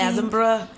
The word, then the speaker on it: Edinburgh: I know you're any minute now on your way to Edinburgh. Yes. Edinburgh. Is that how you say it? I feel like it's Scottish, babe. So it's like Edinburgh.